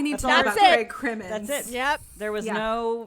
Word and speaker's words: Crimmins: Craig Crimmins, is that how we say his name, Olivia? Crimmins. Yes.